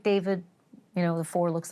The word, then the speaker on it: D4VD: A name that is pronounced David, but spelled uh D4 V D. Looks like David.